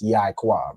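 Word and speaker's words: יעקב: Okay, so it's like it's pronounced Yaquab, right? So the Ya and the I make the Yai, and the Kwa and Ba make Quab.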